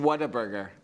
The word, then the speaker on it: Whataburger: Whataburger. I think he just says it weird. Whataburger? Whataburger. Whataburger. It's what a burger run into one word.